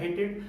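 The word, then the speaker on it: hated: अगर ईडी के ठीक पहले अगर टी या डी में से कोई लेटर आ जाए तो जो आपका ईडी है उसका प्रोनाउंसिएशन एड या ईड हो जाता है, एड या ईड हो जाता है।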